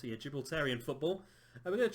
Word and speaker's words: Gibraltarian: We're going to start off as Europa Point in the second tier of Gibraltarian, that is how you pronounce it, yeah, Gibraltarian football.